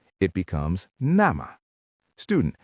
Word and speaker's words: nämä: It becomes nämä.